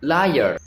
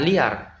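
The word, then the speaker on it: layer: Contohnya tadi kata ini itu dibaca layar bukan liar ya.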